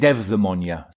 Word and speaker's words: eudaimonia: So Greeks would pronounce it eudaimonia.